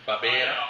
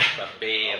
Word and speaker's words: Barbera: Barbera. Oh, sorry. I Barbera.